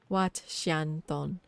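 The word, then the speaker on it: Wat Xieng Thong: It's pronounced Wat Xianton, Temple of Golden City, a Buddhist temple.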